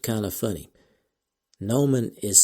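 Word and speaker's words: gnomon: spelled kind of funny Nan is spelled g n o m o n that is g n o m o n so it's not the g is silent so that's a little tricky now also mentioned several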